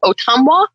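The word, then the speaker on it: Ottumwa: ariel and um oh where is that ariel otumwa yeah yeah oh i said it right good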